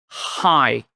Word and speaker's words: hi: é dar aquele oi, som do h em inglês, pratica aí. High.